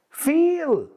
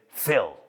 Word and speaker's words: fill: Y viene la mujer, his wife, she says, "She did not say feel. She said fill."